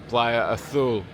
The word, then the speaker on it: Playa Azul: It's literally 5 minutes and you're there at the Playa Azul, or as it's pronounced in Spanish, the Playa Azul.